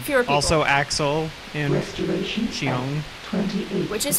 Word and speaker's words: Xion: Also Axel and Xiong. Which is how you pronounce her name, by the way.